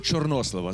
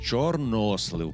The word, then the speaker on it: чорнослив: знай Степанович з приводу чорнослива запам'ятайте наголос чорнослив чорнослив Дякую я не знала